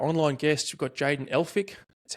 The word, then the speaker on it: Elphick: We've got Jayden Elphick. That's how you pronounce it, Elphick, right?